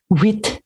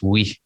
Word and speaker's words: huit: Huit. But there's you don't pronounce the T, right? It's oui.